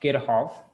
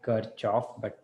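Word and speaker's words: Kirchhoff: whose name is spelled like this okay it's pronounced kirkhof it's a weird way to pronounce it i know it's called it kind of says looks like kirchoff anyway so what this person did is he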